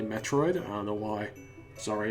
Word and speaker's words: Metroid: thing or Metroid it's I always grew up pronouncing it Mitra right even though it's definitely Metroid I don't know why